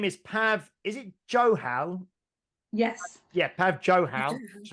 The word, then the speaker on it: Johal: Is it Johal? Yes. Yeah, Pav Johal. Just wanted to check the pronunciation.